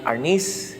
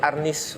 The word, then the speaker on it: arnis: Arnes is the Spanish term from which the word arnis was derived. That's the Tagalog pronunciation of arnes.